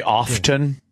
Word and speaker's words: often: door do you say often yeah often not supposed to are it's a silent T it's not silent it